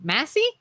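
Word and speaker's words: Massie: Massey?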